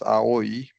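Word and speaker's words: 青い: For example, the word aoi is pronounced as aoi in three separate morae.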